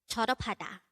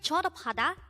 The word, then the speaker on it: 졸업하다: study about the word choropatha let's start learn korean one word at a time only here at day hangout word number 232 this is pronounced as a four syllable word the first syllable is